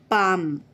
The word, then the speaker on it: palm: LM are the two letters representing the sound of M, palm. L is silent here.